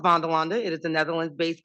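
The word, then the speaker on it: Vanderlande: at a company called velanda Industries it is pronounced velanda it is a Netherlands based company and you've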